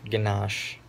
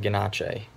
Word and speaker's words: Ganache: And apparently I've been told that it's Papa Ganache instead of Ganache. American pronunciation, I guess.